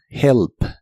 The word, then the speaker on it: help: La H se pronuncia como una j suave, help.